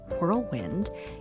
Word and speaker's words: whirlwind: on the WH in whirlwind, you are bang on. That was for you, Andrew Johnston. Yes, I am a boomer, though among the last of the boomers. And yes, we pronounce that WH, the importance of which